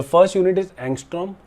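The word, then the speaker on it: ångström: Equal to, ऐसे बोलते हैं इसको, ये ऐसे प्रोनाउंस करते हैं एंगस्ट्रॉम, ठीक है, ANGSTROM, नोट कर लो।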